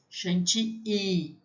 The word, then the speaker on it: chantilly: I-L-L, tem som de I, chantilly. Mas tudo bem, eu também falo, na aula eu vou falar para vocês chantilly, tá? Mas a pronúncia em francês seria crème chantilly.